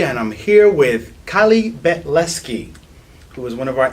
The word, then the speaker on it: Betlesky: Now, your last name is Betlesky. That is correct. I'm impressed. Thank you. I'm curious, what is the most egregious pronunciation of your name that you've heard?